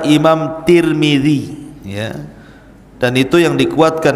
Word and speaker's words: Tirmidzi: Dan ada yang kemudian membacanya tarmiz, ada turmud, ada Tirmidz. Jadi ada sebagian ulama mengatakan Imam Tarmadzi, ada yang mengatakan Imam Turmudzi, ada yang mengatakan Imam Tirmidzi. Walaupun yang masyhur adalah Imam Tirmidzi ya.